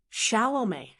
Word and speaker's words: Chalamet: As for his last name, Shalom, that's pronounced estame, soft on the ch, and ending with that French sounding may.